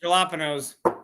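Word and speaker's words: jalapeño: Or you're- as Daniel said, jalapenos. You're definitely Yeah, it's a jalapeno. talking now. The correct pronunciation is jalapeno. I am the produce manager. It's my call.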